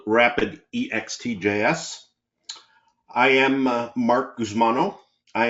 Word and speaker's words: Ext JS: is CES Flagship product extjs some people pronounce it xjs and I'll give you